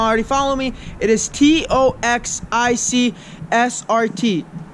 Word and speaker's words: TOXICSRT: If you guys don't already follow me, it is TOXICSRT. Stands for toxic. That's how it's pronounced.